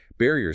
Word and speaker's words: barrier: Barrier stress on ba.